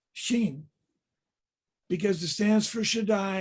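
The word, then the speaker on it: ש: There's a Hebrew letter, Shin, and it represents the word Shaddai. It's pronounced sh.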